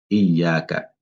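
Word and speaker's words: إياك: Il faut prendre le temps de bien prononcer le shadda. Iyaka.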